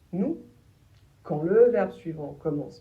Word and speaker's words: nous: Et le s soit on ne le prononce pas et on prononce nous quand le verbe suivant commence par une consonne